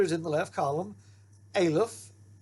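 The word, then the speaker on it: א: And if you look at the pronunciation, that particular letter is silent. It doesn't make sound. Now, in reading, we'll show you that later, but there's no sound for that letter.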